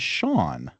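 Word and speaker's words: Seán: Uh S E an is Shawn, right? Because it has a slender vowel after the S.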